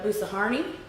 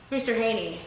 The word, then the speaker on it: Boussarhane: way, is Miss Ericka Boussarhane, I believe it is pronounced. Boussarhane, I think it is. I think I've been calling it Boussarhane, and then I was wrong because I heard her pronounce it in one of her videos. So apologies if I mispronounced the inflection there.